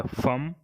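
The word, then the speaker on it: femme: और दूसरा वर्ड है वुमन, यानी महिला को फ्रेंच में क्या बोलते हैं, तो इसके लिए वर्ड है फम।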